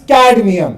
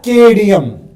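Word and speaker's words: cadmium: And last में CD इज़ कैडमियम। या हमारी ग्रैंड मदर्स उसको बोलते हैं केडियम।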